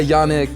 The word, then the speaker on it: Yannick: Yeah, Yanek. Yanek. Uh, it's it's a French. It comes from from like French speakaking world. So, in French, people would pronounce it uh, you know, in a French way, but that's the right way.